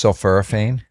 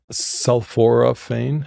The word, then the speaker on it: sulforaphane: A lot of people call it sulfurophane and I don't challenge them.